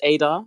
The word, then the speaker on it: Ada: It's pronounced Ada because I think it's the Ghanaian pronunciation.